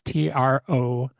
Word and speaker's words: Trouw: Yeah, I mean, my name, Elise Tro, that's my handle on like YouTube, Instagram, Spotify, TikTok, anywhere. Awesome, and it's Trouw, like Yep, snow, that's right. like pronounced like snow, because I love the video.